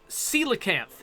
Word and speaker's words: coelacanth: Coelacanth is how Jawafawa says that I should pronounce that word.